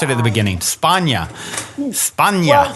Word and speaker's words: Spagna: Spagna. Spagna. Well, Spagna not is, Spagna. No, Spagna's correct too. Spagna is kind of like the Mediterranean pronunciation. They're both correct.